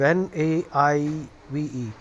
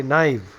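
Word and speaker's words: naïve: on top of I those two dots are called diares which means that the adjacent vowels are uh pronounced uh independently sort of so it is naive so you cannot fuse that and say knive so that's the function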